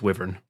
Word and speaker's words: wyvern: I looked up the etymology, and the etymology supports it being pronounced wyvern, but I hate it, so I'm evolving the language, and it's wyvern.